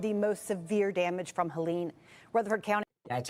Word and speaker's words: Helene: The uh Chimney Rock and Lake Lure suffered some of the most severe damage from Helen Rutherford County. That's how you say it. Helen, not Helina.